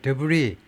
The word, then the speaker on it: debris: 수질 오염 and toxic debris 그리고 독성 쓰레기들 debris 마지막에 s가 발음이 안 돼요. 자음이 마지막 발음이 발음이 안 된 건 전부 다 프랑스어입니다.